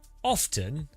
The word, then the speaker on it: often: It's got the letter there. You can't just ignore a letter.